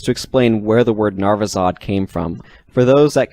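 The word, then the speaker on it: Narvisaud: Let's get into the narvizod first, because the mechanical identity, which is at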